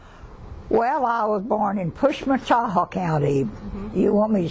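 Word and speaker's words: Pushmataha: well I was born in push mataha County you want me to spell it for you yeah p u h m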